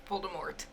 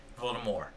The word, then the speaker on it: Voldemort: have kept Voldemort alive Voldemort Voldemort no the t is silent no it has never been silent okay let's play this